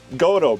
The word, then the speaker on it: Gotoh: Oh, that's funny because Gotoh bridge.